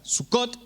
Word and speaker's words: Sucot: está lo mismo verdad el acento va al final de la palabra sucot su Cat bien entonces